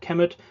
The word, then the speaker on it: Kemet: was uh well kmt so in conventional conventional pronunciation in egyptology you would call it kemet but it was probably probably never really pronounced camet so the t is